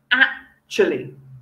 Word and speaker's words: actually: words in english actually actually okay so notice you go ah chilly so it's almost like you go up on yak and down on a chilli and it's a very